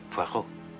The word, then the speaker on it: Poirot: I've got a parrot with Mr. Poirot. No. Poirot. It is pronounced Poirot.